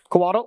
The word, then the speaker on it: Coatl: and Ice Fang Coddle, is it Coddle? Is that how you say it? Coatl? Okay.